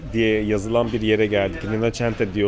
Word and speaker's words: Rinascente: Rinascente diye okunuyor ama hani size yazılışını söyleyeyim dedim.